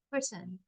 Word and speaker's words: Britain: it's called a stress we just push our voices more so for example Brit I push my voice more see why it's under Brit and then I soften My Voice Britain Brute ish so let's